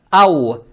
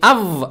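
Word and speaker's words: أو: Букву вау произносим правильно, то есть мягко. Ау. Не ав, а ау.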